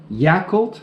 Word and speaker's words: Yakult: can't complain about that can't complain about that Yakult I like my vehicle - every once in a while or do you say yeah cult your cult yeah cult and gemenese it's pronounced yeah I could yeah coup d'etat yeah